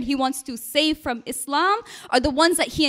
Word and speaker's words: Islam: And while you're at it, tell President Trump that it is pronounced Islam, and I am a